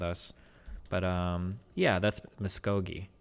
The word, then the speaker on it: Muscogee: But, um, yeah, that's Muscogee. Muscogi. So, oh, hard G. Sorry. Muscogi.